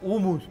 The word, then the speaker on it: hummus: acá la salsa es homos orbo Cómo se pronuncia ese en realidad noos decimos humus el humus eso el homos es más o menos ese no bien